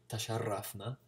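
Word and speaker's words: تشرفنا: So that's closer to Spanish, the trill of the R, tasharrafna.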